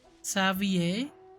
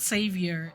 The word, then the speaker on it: Xavier: are you doing here savvier okay so that's how you pronounce his name it's not savior it's savvier I was in the